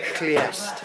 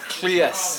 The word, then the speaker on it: Lluest: You've got to try and get your tongue at the top of your roof of your mouth, and I'm no expert, Right. but it's more like Cleest. Cleest.